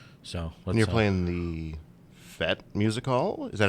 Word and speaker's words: Fete: So and you're playing the Fete Music Hall?